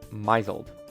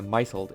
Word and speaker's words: misled: it and think it's misled I swear to God every single time I read this word my brain instinctively pronounces it as a a mled instead of misled the reason why this